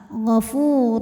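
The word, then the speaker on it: غفور: panjang dua harakat ghafurur huruf ro dibaca secara tafkhim sebab berharakat dhamah tanwin maka bacanya tebal Gofur rur ada hukum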